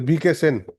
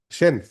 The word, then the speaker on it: Shen: Hussain, My lord, BK Shen. I'm sorry, BK Sen. How do you pronounce? Shen, My lord, not Sen.